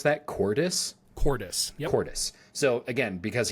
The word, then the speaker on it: Cordis: AKA the Force phantoms of Khan and, how do we pronounce that? Cordis? Cordis.